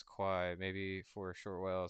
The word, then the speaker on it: Quai: Um, and then he says, uh, it saysqi pronouncedq or something like it. It's it's chi. Um, yeah. Q QY quai.